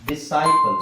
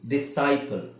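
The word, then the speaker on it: disciple: asset asset okay ಅ scent asset present decent ಡಿಸೈಪಲ್ ಇಲ್ನೋಡಿಐಎಸ್ಸಿಐಪಿಎಲ್ ಡಿಸೈಪಲ್ so long ವ short ಅಲ್ಲಿ confusion ಇದೆ ನಿಮಗೆ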